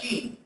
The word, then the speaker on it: Qin: Muy bien, luego de esta dinastía Zhou aparece la dinastía Qin, que se pronuncia Qin.